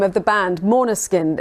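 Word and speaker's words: Måneskin: Name of the band, Maneskin. It's Maneskin, and I've been practicing that because for an Englishman it's very hard to say. For Italian people too. The name Maneskin sounds very Nordic.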